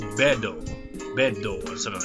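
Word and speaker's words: ベッド: It's essentially not really all that different to how it's in English. It's pronounced bedo.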